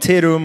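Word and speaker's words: Tatum: So if you want to learn more about Terum, or literally if you want to use our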